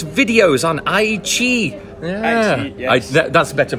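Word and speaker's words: 爱奇艺: Ai Chi, yes. That's better pronunciation, yes.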